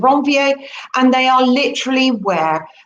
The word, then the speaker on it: Ranvier: are called nodes of ranvier guess the guy who discovered those was french so that's the proper way to say that the nodes of wrong va and they are literally